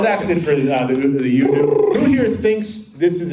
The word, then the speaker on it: UDU: It's UDU. UDU? UDU. He said it right in the video. It's UDU. Like you do it.